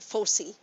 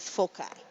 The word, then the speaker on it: foci: vertices and foci and some people pronounce it fosee but a lot of books go with foci so i look at